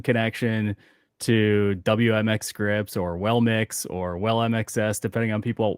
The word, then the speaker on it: WellMXS: And to your point, speaking of the name, just to take that head on, they basically, their official name is WellMix, is how they pronounce the WellMXS, and that came from a